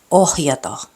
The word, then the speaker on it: ohjata: Doesn't matter whether it's in the beginning or in the middle of the word, you have to pronounce the letter H. Kohta. Suhde. Ohjata.